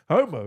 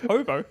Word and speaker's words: hobo: Homo? No, it's hobo. Hobo? With a B. Yeah, you better pronounce that B properly.